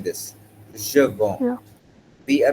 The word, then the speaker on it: je vends: Okay, see, when you were pronouncing this, je vends, Yeah.